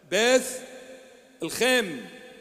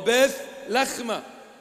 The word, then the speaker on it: Bethlehem: Beth-lchem, or Beth-lchem, or Beth-lachma, whichever way you want to pronounce it, the house of the bread.